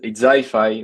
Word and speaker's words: Zyfi: You pronounce it like Zyfi, right? I hate to pronounce only letters. Yes, it's Zyfi. We pronounce Zyfi.